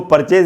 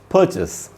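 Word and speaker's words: purchase: अच्छा, मैं इसको परचेज नहीं बोल रहा, परचेज इसका गलत उच्चारण है, इसका सही उच्चारण है परचेस।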